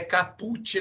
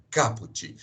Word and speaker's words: caput: Vão ver mais ou a palavra caput tão né caput não é caput então a pronúncia correta cabot quem que é Catuti